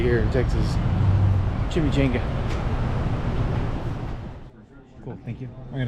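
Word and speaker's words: chimichanga: It is Chimmy Chenga time. I know I say it wrong. I know it's chimchanga, but I'm in Texas. It's a chimmy chenga.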